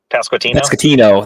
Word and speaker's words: Pasquantino: How do you pronounce his name? Pasquano, or however you say it. Pasquantino.